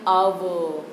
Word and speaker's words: hour: And eternity in एन आवर, HOUR, हवर नहीं बोलेंगे, H का उच्चार साइलेंट है, आवर बोलना है.